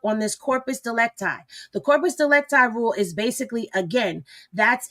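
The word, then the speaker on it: corpus delicti: So corpus delecti. Okay, that's how we saying it.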